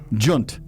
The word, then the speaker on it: djent: out that the genre that Meshuggah fits into is spelled DJENT. Oh yeah, Gent. Junt.